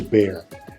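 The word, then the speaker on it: Bexar: hear in San Antonio the first one is bear like Bear right it sounds like bear but it's actually b e x a r which is the name of our County Bear County now nobody really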